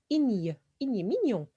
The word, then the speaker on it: mignon: ajoué n e Mignon Mignon attention à la prononciation de GN alors Mignon Mignon joli élégant élégant